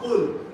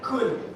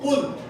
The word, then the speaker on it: Qul: Be careful of the pronunciation of Qul. Okay? Everything. Because if you mispronounce it, instead of saying Qul, you said Kul. Ma'ana Kul. Kul. It could be Kullu, all, but in verb future tense. Verb command. Could have time. Eat. I'm commanding you to eat. Kul. So the pronunciation is of. Qul. It means say.